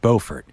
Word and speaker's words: Beaufort: before some of y'all email me about my pronunciation it is in fact beaufort beaufort is in south carolina well anyway beaufort